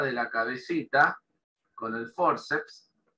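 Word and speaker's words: fórceps: Luego tenemos la palabra forceps, que en español se escribe igual, pero con acento en la O.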